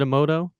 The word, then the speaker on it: Emoto: challenge uh for the Emoto pack am I pronouncing that correctly was it Emoto that's right yeah um UK house a little